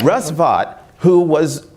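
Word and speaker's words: Vought: committee that voted against it because they were upset that there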